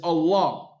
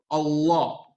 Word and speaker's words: Allah: When we pronounce Bismillah ar-Rahman ar-Rahim, Allah's name, Lafzul Jalala, is Allah, and it's Mufakham in the Arabic language, which means that it comes off hard. Allah, right? However, if there's a kasra before Allah's name, then it goes from being mufakham to muraqqaq.